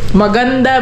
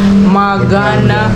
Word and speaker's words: maganda: ready language yeah well what else you know maganda means beautiful honey you didn't say it right magana magana well that's also actually a word in